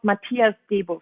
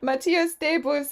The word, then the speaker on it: Matthias Debus: Even if it seems to be French, it's a German name. He's called Matthias Debus. Matthias Debus on the bass, and then Max Mahler on the drums, and Rodrigo Villalon.